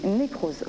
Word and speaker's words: nécrosophe: On m'a dit que vous étiez nécrosophe. Nécrosophe, c'est ça. C'est ça, hein, je le prononce bien.